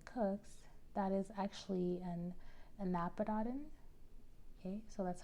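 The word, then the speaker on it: anapodoton: just too many cooks that is actually an annapodan okay so that's how you pronounce that and nabadatin so an anapadadin is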